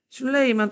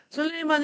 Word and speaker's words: 술레이만: 슐레이만 또는 술레이만이라고 발음을 하는데 그 술레이만이라고 할게요. 교과서에 술레이만이라고 있으니까. 술레이만 1세 때 오스만 제국의 전성기라고 표현이 되는데 이 술레이만 1세 때 어떤 일이 일어나냐면 동유럽 지역으로 진출합니다.